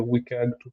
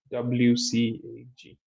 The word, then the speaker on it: WCAG: So for WCAG 2.1, WCAG stands for Web Content Accessibility Guideline, WCAG. So that's this. I pronounce it as WCAG, but you can pronounce it in any other way.